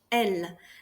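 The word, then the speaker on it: elles: il, elle, and il, elle. They are pronounced exactly the same. The S here is mute. You do not pronounce the S.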